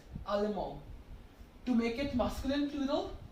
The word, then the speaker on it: Allemand: So for masculine singular, it is Allemand. You are not pronouncing the D here. Okay, it's Allemand.